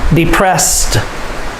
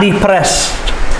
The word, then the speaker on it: depressed: confident curious depressed depressed the ed makes the t sound depressed it is not depressed not depressed it's the pressed peep pressed depressed embarrassed the ed makes